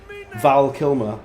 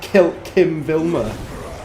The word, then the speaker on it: Val Kilmer: just an absolute wetty cuz I said his name wrong Val Kilmer that's him what the hell did I say like kill Kim vilmer VMA what am I on about what even